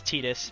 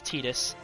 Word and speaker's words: Tidus: oh and obviously guys you pronounce his name as tetus because uh because the Japanese name for him is TAA so his name is tetus all right anyone have